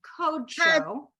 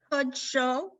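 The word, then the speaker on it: קדשו: Mitzvotan ve'ratza banu ve'shabbat kadsho Yeah, that's going to be code show. kodsho Uh-huh.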